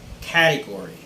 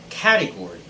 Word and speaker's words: category: placement first word is category category so the stress should be on the first syllable and most people in